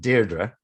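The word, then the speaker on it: Deirdre: lots of different pronounces she would pronounce it deardra dearra okay well I'll pronounce it de whereas whereas dear would be the Coronation Street pron yeah which is not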